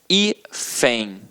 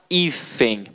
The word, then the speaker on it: hífen: Ela é uma paroxítona terminada em EM. O EM, que está no nosso quadrinho. Portanto, ela não leva acento. Agora, olha a palavra hífen.